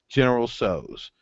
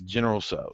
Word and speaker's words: General Tso's: would like this, and they repeat it back, General So's. So it is General So's. So it is confirmed. General Tso's is pronounced S-O apostrophe S Pretty much.